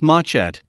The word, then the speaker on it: machete: and a small guitar-like four-string instrument called the machete pronounced matchat also known as the bregina or the machete